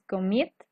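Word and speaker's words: commit: a través del sonido por eso es que me dice que la segunda sílaba es estresada Okay en este caso es comit si se dan cuenta inicia como suave comit Entonces el comit la segunda se escucha estresada o se escucha más fuerte qué es lo que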